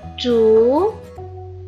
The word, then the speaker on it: 竹: 竹，第二声调，竹，部首是竹字旁，我们来竖空，竹。